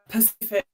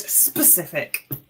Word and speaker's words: specific: Uh most hated grammatical error or mispronounced. When people pacific is is, you know, a body of water. It's not the word specific.